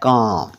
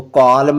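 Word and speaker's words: calm: एल एम होता है काम सी ए एल एम काम इसको कॉलम नहीं पढ़ना पी ए एल एम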